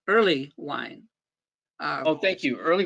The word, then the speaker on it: Erlewine: start out with uh my name is pronounced early wine early wine uh oh thank you